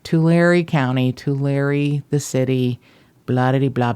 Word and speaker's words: Tulare: I want to separate like two Larry, but it's Tulare. Yeah, just pretend you're writing somebody a letter. Tulare. Oh, stop it. All right, Tulare County, Tulare the city, blah blah blah blah.